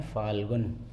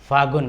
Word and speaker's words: फाल्गुन: मां से थे सागवन वैसे शुद्ध उच्चारण फाल्गुन ना हम बोल देते हैं फागुन बोल देते हैं तो